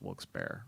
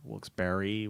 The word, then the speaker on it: Wilkes-Barre: first things they say is how do you pronounce wilkes-barre wilkes-barre wilkes-barre barr i took a baby every time